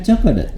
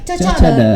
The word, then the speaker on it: Chocodot: teh meni cocodot nah biasa pronounciationnya bukan cocokot tapi cocodot cocodotnya sepertos eta nu